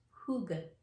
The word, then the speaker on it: hygge: you probably don't know so go ahead the pronunciation is who good yes and so this is a game that